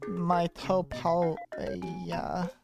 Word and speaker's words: Miitopia: It's actually it's pronounced Miitopia.